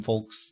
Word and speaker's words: folks: there's no one there you don't pronounce the L like egg yolks you say yo God